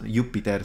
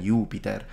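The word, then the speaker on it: Iuppiter: rather probably go for double p and send short vowel be it sounds yupiter sounds more natural to me than you Peter but whatever I mean whatever they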